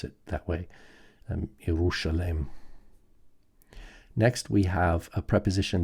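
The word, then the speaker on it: Ἰερουσαλήμ: And I believe that first century Jews would have pronounced this as a sh sound. Yerushalem, Yerushalem.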